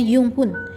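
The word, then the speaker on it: Junghuhn: Selanjutnya ada namanya iklim Junghun atau dibacanya Yunghun.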